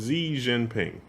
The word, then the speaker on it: Xi Jinping: is his name Jing or Jian or I'm not sure how to pronounce it. Xi Jinping.